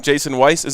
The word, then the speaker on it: Jason Weiss: Super excited to bring on Jason Weiss. Am I pronouncing that right?